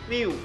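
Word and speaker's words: Mew: 梦幻的名字英文发音都是 Miu，在香港的翻译它被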